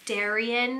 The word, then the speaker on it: Darien: is another D name and that is Darien and this is a Greek name meaning gift and it kind of rhymes with alien which is kind of